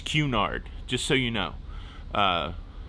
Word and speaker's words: Cunard: to look at you and say no it's pronounced cunard it's tony for lolly to look and until